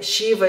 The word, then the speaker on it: Shiva: Depois de um tempo, você vê Shiva escrito com Z e você sabe que a pronúncia daquilo, não importa se é S tracinho em cima, se é o Z ou se é o Devanagari, o som é Sh.